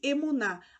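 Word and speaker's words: אמונה: para a língua hebraica ela é falada emunah tão pronuncia-se emonar a fé em hebraico essa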